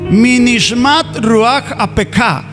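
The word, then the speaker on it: מנשמת רוח אפך: Bueno, no importa si no sabemos leer, vea, se pronuncia Minishmat Ruach Apeka.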